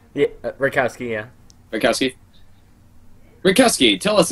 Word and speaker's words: Retkowski: Did I pronounce that right? Yeah, Retkowski, yeah.